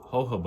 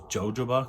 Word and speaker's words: jojoba: renew the skin and a hobo oil which I just learned that that's how it's said how those jojoba because that's how it reads but no all the boils